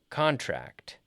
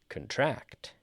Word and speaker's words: contract: So the verb gets the stress on the second half, and the noun gets the stress on the first half. Contract, contract.